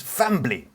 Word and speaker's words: family: His pronunciation of the I in family. Family. A true Jamaican pronounces fambly. And words like family, Family.